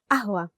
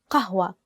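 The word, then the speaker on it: قهوة: For the word ahwa, the actual standard Arabic word is qahwa. Qahwa with the letter qaf. But to easen it up, to make it easier to pronounce, we use the letter a, ahwa.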